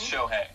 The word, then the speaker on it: Shohei: But how do you say his first name? Shahani? It's Shohei. Shohei Ohtani.